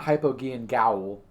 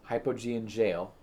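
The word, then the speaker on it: Hypogean Gaol: it we'll go there it's not hypogean gowell it is hypogene jail well someone might correct me in hypogean but i am very sure about jail e um i could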